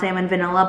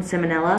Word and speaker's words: salmonella: yes I do know it's not pronounced salmon vanilla but I think it's funny you're calling it salmon vanilla than salmonella so we do call